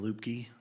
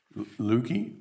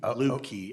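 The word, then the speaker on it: Luebke: My name is Lupke. Lukey? Lupke, L-U-E. All B right. as in boy, K-E.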